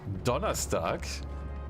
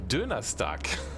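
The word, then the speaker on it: Donnerstag: because in germany uh thursday is also called donna stark but you can like mispronounce it to dona stuck so do not give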